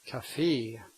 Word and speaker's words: café: Ett café. Ett Café. That's an example of a word that has the stress on the last syllable and ends in a vowel, so the vowel is long.